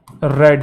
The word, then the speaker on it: read: तो future perfect tense, तो he will have रेड, रीड रेड रेड लिखने में सेम होता है, प्रोनाउंसिएशन डिफरेंट होती है, 4 तो रहेगा, ठीक है।